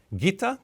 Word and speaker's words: Ghita: Firstly, from Romania, Ghita. Did I pronounce that okay? Yeah, that's okay. Thank you.